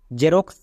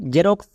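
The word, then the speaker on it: Xerox: তিন নম্বর ট্রিক্সটি হচ্ছে কোন ওয়ার্ডের এর শুরুতে যদি আমরা এক্স পাই তখন আমরা এক্স এর জন্য বর্গীয় জো ইউজ করে দেব যেমন দেখো জেরক্স জেনন এখানে প্রত্যেকটি ওয়ার্ডের শুরুতে এক্স আছে তাই এক্স এর জন্য বর্গীয় যোগ হয়ে যাবে যেকোনো ওয়ার্ডের শুরুতে যদি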